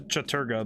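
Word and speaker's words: Chattur'gha: That's he pronounced it Chaturga, but whoa, I'm really far away.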